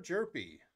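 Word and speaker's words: Hjerpe: Cardinals, Cooper Jerpy. There you go, St. Louis. H is silent there. Cooper Jerpy.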